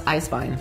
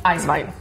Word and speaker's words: Eiswein: That's Eiswein. Eiswein. Eiswein. So, since you are doing all your pronunciations so well, yeah, I drink a lot.